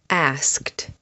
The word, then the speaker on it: asked: Asked, checked, walked, worked. The sound at the end of these words is kt.